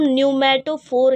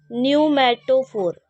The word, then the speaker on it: न्यूमेटोफोर: आई हैं इनको हम न्यूमेटोफोर कहते हैं। कौन से रूट है ये? इन रूट्स का नाम क्या है? न्यूमेटोफोर। न्यूमेटो फोर। ठीक है? यहां पे जो पी है वो साइलेंट है।